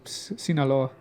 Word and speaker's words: Sinaloa: Sinaloa.